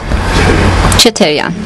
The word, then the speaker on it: Cheterian: Cheterian. Vicken Cheterian, he is a journalist, so either Cheterian or Cheterian, both of them works.